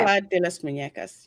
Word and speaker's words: Isla de las Muñecas: The island is known as Isle de la Muñecas. Okay. Isla de las Muñecas.